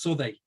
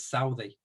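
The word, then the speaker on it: Southey: into adolescence and they should be pronounced so they the area is mispronounced locally as Southie Firth Park leads onto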